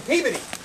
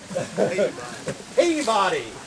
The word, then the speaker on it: Peabody: Colonel Everett Peabody of the Massachusetts Peabody, which is why I'm saying Peabody instead of pronouncing it like you do that hotel in Memphis. Peabody.